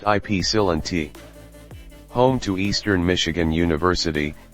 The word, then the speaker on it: Ypsilanti: The first Dominick purchased by the brothers was located in Ypsilanti, Michigan. Pronounced Ypsilanti.